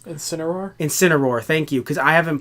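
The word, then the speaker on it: Zeraora: we have a Pokemon who I still can't pronounce sooner are in sin Aurora thank you because I haven't played whatever Jen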